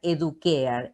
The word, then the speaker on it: educare: En realidad lo pronuncian educare.